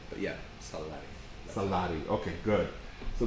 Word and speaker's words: Sallari: it's got the it's got the Catalan double L, Uh-huh. which is a very specific thing, and I kind of spell it a little bit differently. But yeah, Sallari.